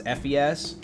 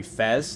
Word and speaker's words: FES: always thought it was fps but it is it is pronounced persona 3 fez like festival because that game was